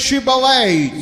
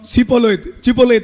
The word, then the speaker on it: Shibboleth: and you would say surplus water, ஷிபோலேத் என்று சொல்லுங்கள். you say Shibboleth, சொல்லுங்க பார்க்கலாம். ஷிபோலேத், Shibboleth. இப்போ நீங்கள் ஒரு காலம் சிபோலேத் என்று சொல்லக்கூடாது. அது அவர்களுக்கு அந்த எப்பிராயிமருக்கு இந்த ப்ரொனன்சியேஷன் வராது, உச்சரிக்க முடியும்.